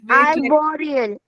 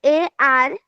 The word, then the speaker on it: arboreal: Wait, Arboreal. spelling? Miss ARBOREAL.